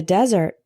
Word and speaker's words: desert: example it's hard to find water in the desert desert spelled with One S not two is a verb